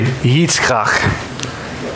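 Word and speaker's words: יצחק: Isaac in Hebrew is actually Yitzchak. And so when I go to Chick-fil-A and they ask for a name on the order, I say Yitzchak.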